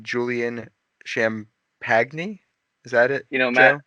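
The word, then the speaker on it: Champagnie: Johnson said it, so that's It's Champagny, but that's what it is.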